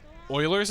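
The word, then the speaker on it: Euler: was um it was about Oilers number and like if you're not a mathematician oil's number and the guy's name is spelled euu l e R is represented as an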